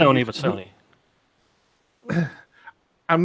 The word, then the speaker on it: Sony: In some of these Not going to companies, say Sony, but Sony. I'm not going to say that, but it does rhyme with phony.